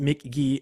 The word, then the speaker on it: Mk.gee: Cameron's number art number one artist was uh Mick gee it's pronounced Mick G but it's spelled MK Jagger so it's spelled mk.gee pronounced McGee a guitarist vocalist Michael Gordon has made one